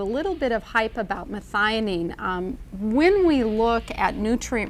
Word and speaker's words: methionine: hear about biotin and methionine forgive me if i don't pronounce it properly and correct me on that is there a certain relationship between biotin and methionine it's actually methionine but you're close i knew what you